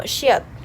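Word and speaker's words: 시옷: De ahí esta, que es como que la terminación de una casa, la parte de arriba de una casa, y se pronuncia como Shiot.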